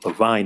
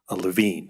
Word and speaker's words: Levine: the last presenter um referenced the Levine act well that's how the assembly member who authored this legislation back in the 80s pronounced his name there have been subsequent members of the legislature who use the the pronunciation LaVine so LaVine and LaVine are been interchanged over the last several decades so LA county of